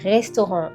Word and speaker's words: restaurant: For example, a word like restaurant that has a R inside, restaurant. It's very difficult for English and native speaking people to say the R, restaurant.